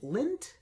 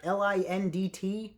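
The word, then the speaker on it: Lindt: uh little chocolate treats lint yeah am I pronouncing that right l-i-n-d-t Lind chocolates yeah the little chocolate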